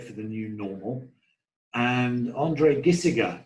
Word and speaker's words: André Gisiger: And André Gisiger, right? Have I pronounced that correctly?